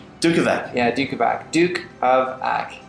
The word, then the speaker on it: Dukovac: Dukovac. Dukovac.